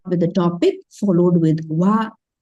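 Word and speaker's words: は: the topic followed with wa. But it is actually HA. When you type also, you will type H and A only. Right? But when you pronounce only, we will say it as wa.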